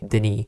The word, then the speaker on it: Denis: His name is spelled Dennis D E N I S, but since he's from Canada, he wants us to pronounce it the French way. Denny.